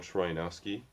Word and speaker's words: Troyanowski: on Facebook, my name, pronounced in an American way, is Troyanowski III. then the words Troy, A, no, Sky, and then I.